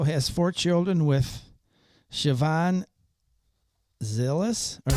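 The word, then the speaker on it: Zilis: Musk also also has four children with Siobhan Zillis or Zil.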